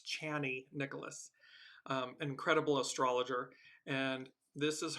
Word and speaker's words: Chani Nicholas: I apologize, I've been saying her name wrong. It's Chani Nicholas, incredible astrologer.